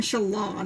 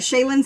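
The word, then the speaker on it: Shallan: So no, Shaylin sounds like it has an I after the first A.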